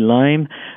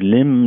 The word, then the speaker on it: Lyme: Vous savez, la maladie de Lyme, on prononce Lyme, certains disent Lyme, là, mais on dit Lyme parce que c'est le nom en fait de l'endroit d'où ça vient et à l'origine.